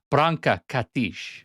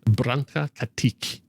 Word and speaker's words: Branka Katić: How do you pronounce this?" And Branka Katić. Branka Katić.